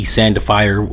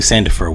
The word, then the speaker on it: Sandifer: For all those that don't know who Yummy Sandifier, uh, I think Sandifer was. That's I was saying his name wrong.